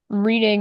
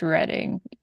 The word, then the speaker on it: Reading: Okay, Ian, a trivial nitpick, but reading is actually pronounced reading.